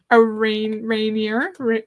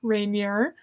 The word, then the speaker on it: Rainier: Mount Rainier.